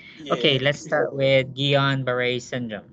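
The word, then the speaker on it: Guillain-Barré: okay let's start with guillain-barre syndrome so it's always nicer when you pronounce it the way the french intended oh you can see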